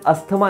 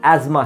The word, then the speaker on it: asthma: और हाँ दोस्तों, उस बीमारी का प्रोनाउंसिएशन ब्रोंकियल अस्थमा नहीं, ब्रोंकियल एस्मा है।